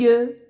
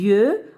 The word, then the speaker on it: yeux: Alors maintenant, le mot les yeux. Ben, regardez les enfants. Alors, X à la fin ne se prononce pas. Elle est muette. Les yeux, alors on ne peut pas dire les yeux X.